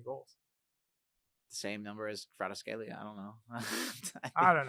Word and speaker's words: Kvaratskhelia: Kvaratskhelia, he probably in my opinion, over Dembele.